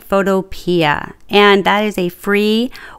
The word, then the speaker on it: Photopea: to use photopia and I know some people pronounce it photo but I like photopia and that is a free website that you